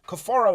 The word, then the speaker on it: Cafaro: this kid, like everybody was saying, yo, Cafaro is fighting this week.